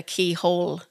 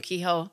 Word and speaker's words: Kehoe: received um Parcels with Keyhole Keyhole separate cuz I say my name kho and they'll actually send